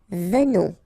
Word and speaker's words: venons: Nous venons. Okay, so final S not pronounced, and then remember that you pronounce this like a the, venons, okay, O-N in your nose, on, venons, nous venons, alright,